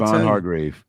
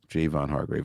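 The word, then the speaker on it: Javon Hargrave: man I'm trying to hardgrave Javon hardgrave is getting cut too I'm just playing it's Jayvon Jayvon hardgrave Jayvon Hargrave I'm sorry about the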